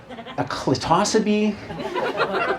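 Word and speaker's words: Clitocybe: It's a species of mushrooms called the clitosides. I mean, some people trying to pronounce it as a clitosibe, but either way, it's got the word clit in it.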